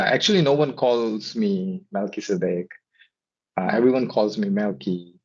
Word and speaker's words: Melchizedek: Okay, so my name is pronounced as Melchizedek. In English, the pronunciation is Melchizedek, and it's a Hebrew name, right?